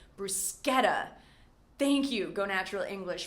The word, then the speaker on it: bruschetta: I always used to say, before this lesson, bruschetta, but it's actually bruschetta.